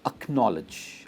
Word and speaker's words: acknowledge: इसकी प्रोनाउंसिएशन है acknowledge. Acknowledge. और stress is on the no. Acknowledge and not acknowledge.